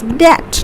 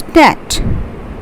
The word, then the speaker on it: debt: When you have taken a lot of money from someone and you need to pay them back, this is debt, not debt, it's debt.